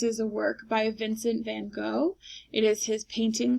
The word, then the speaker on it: van Gogh: Arles, artist is Vincent van Gogh, also known as Vincent van Gogh if you pronounce it with the correct Dutch pronunciation, and the date was 1888.